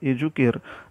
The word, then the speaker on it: educere: इथं CE शब्द वापरलेला आहे, त्यामुळे एज्युकेअर असा जरी त्याचा उच्चार होत असला तरी देखील स्पेलिंगमध्ये थोडासा इथं फरक आहे.